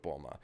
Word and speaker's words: Bulma: of made sure that the dub was going to go with Bulma. Like immediately out the gate, put any other pronunciation down. And it's frustrating because I think Bluma just sounds better. I think it communicates the pun better, but nope, we got Bulma.